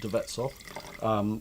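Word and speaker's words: De Wetshof: by Tibet soft winery spelt with a w but pronounced with a V the bets off the Javits family and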